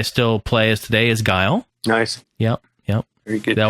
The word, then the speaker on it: Guile: People used to pronounce Guile as Gully. No, I'm not joking. People were like, "Oh man, I'm using Gully tonight." I'm like, "I think it's Guile."